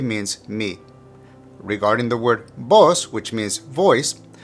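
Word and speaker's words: voz: me regarding the word boss which means voice the v in Spanish is normally pronounced with a B sound and z is pronounced with an S sound so you have boss make sure you pronounce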